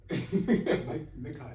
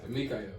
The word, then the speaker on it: Mikael: Man, we got our boy Mikael. That's how you say it, right? Mikael. Mikael. Yeah.